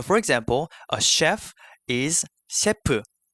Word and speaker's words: 셰프: So for example, a chef is 셰프. I know that it's a monosyllabic word in English, but in Korean it becomes a disyllable.